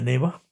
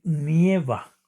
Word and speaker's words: nieva: Pero si no queremos decir el gerundio y lo queremos expresar en presente, debemos decir nieva. No se dice neva. Fíjense bien, muchísimas personas cometemos ese error de de decir neva, pero no se dice nieva.